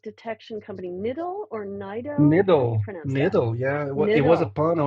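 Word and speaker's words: Niddel: You've been at Verizon since, how do you pronounce it? Your your ML network detection company. Nidle or Nido? Nidle.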